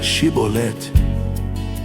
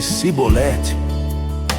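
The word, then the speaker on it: Chibolete: Se respondesse que não, diziam: "Então diga Chibolet. Se ele dissesse cibolete, sem conseguir pronunciar corretamente a palavra, prendiam-no e matavam-no Jordão.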